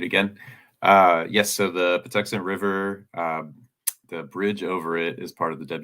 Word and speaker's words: Patuxent: for you uh can you repeat when the part toxic I I said it wrong river bridge will be completed sorry I had to get off of meat again uh yes so the Patuxent River um the bridge over it is part